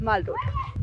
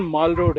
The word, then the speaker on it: माल रोड: सही उच्चारण माल रोड है। आज की प्रेजेंट जनरेशन ने वो जो शहरों में मॉल बनने लगे। जी। उसकी तर्ज पे इसे मॉल रोड कहना शुरू कर दिया।